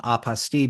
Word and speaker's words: apostille: I like using the pronunciation apostille because it rhymes with unrestricted fees, kind of.